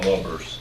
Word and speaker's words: Lubbers: Ann Lubbers, who tragically passed away.